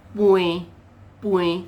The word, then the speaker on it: pnui: And in Penang Hokkien, it is pui. So you are seeing it written in Taiji romanization here, P-N-U-I 33.